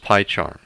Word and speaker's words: PyCharm: slash y charm and it's pronounced pie charm and hit enter now